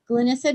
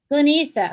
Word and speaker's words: Glena: not know the answer glissa did I say your name righta um we don't know say it again glena long e glena okay I'm sorry thank